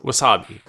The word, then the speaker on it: wuz↑b?: street dancer that's right Wu Z upb question mark pronounced Wasabi it was developed by